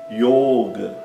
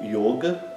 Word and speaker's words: yoga: Outro exemplo, yoga. Yoga. Então, yoga é com o o fechado, não é yoga. É yoga e o é longo. Yoga, né? O A é curto.